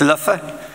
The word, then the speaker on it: Leuven: and living um although my dutch teacher insists it's luffa don't push the ends and always pronounce the v's as f's so i come here and say luffa and you all say